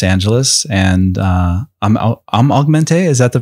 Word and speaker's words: Augmentée: cartoonist from Los Angeles and uh I'm I'm augmente is that the pronunciation yeah okay I've been saying it wrong